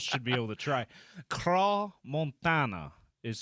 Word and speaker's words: Montana: Apparently, they pronounce it the French way. They pronounce it like Tony Montana.